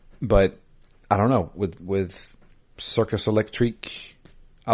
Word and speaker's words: Circus Electrique: It's not Circus Electric. It's spelled differently. Circus Electrique. He putting some This was- respect on their name. That's what that is. That's you got to say it right.